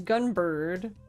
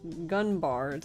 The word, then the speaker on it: Gunbird: It says gunbird pronounced gunbard. And I'm like, no, because it's how they would it's gun. Oh my god, it's Gunbird. Jesus Christ. They would say gunb. But it's still gunbird.